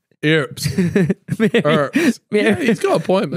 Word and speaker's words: Earps: I've been calling it Earps. Bro, she's just lying. Oh, she plays for your club, bro. No, you should know. No, because the word is spelled E-A-R-P-S. Earps.